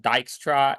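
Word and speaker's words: Dijkstra: Python and C um so uh yeah so dyra is pronounced well like that more than like anything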